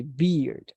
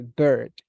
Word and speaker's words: bird: of this word because we don't say beard say bird excellent very good pronunciation